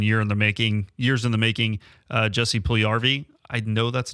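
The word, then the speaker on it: Puljujärvi: Oh, is that an extra little syllable there? It is Finnish. Yes, Puljujarvi.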